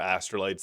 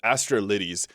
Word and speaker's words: Astrolytes: Anyways, on to freckled and beautiful skin customization here by Astrolytes. This is a Nexus mod. Actually, I mispronounced this. Astrolittes. Uh so this adds a few different options.